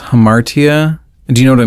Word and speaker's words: hamartia: I think it's pronounced hamartia.